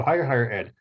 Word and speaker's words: HireHigherEd: It's spelled hashtag HIRE hire, and then HIGHER, the other hire, and then ed, ed. So HireHigherEd.